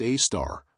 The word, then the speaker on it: Sagittarius A*: At the very heart of our galaxy, approximately 26,000 light-years away from us, lurks Sagittarius A*, pronounced A-star, a supermassive black hole containing about 4 million